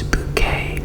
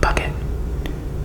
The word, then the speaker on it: Bucket: Many fans quote is catchphrase, "It's bouquet, not bucket."